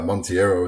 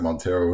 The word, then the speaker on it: Monteiro: say her last name they pronounced it differently in this game and then I mean they pronounce it uh Monteiro in this game and then I think they pronounce it Montero in five I don't know how